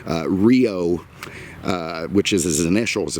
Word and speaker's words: REO: the popular band uh rio was reo it wasn't pronounced you know as an acronym but the band took it that way and that's what it